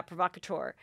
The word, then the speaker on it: Provocateur: that's like a very expensive lingerie yeah yeah provocateur and um and it's like red lacy two